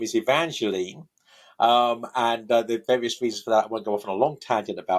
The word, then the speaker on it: Evangeline: So be Evangeline right different pronunciations but we know that that Longfellow pronounced it Evangeline because of the way he uses rhyme in the poem.